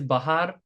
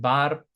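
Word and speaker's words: બહાર: Out or outside is bahar, often pronounced bar.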